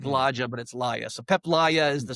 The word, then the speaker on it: Laja: So it looks like PEP but it's pronounced PEP. And then LIA is L A J A. Looks like Laja but it's Lia.